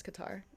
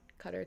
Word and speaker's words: Qatar: Oh, thank you guys for telling me that I was pronouncing Qatar wrong. That's my bad. I mean cutter wrong. I was pronouncing it as Qatar. Cutter to it's cutter. Okay, thanks.